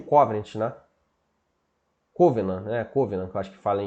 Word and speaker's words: covenant: Covenant, que eu acho que fala em pronúncia mais correta em inglês.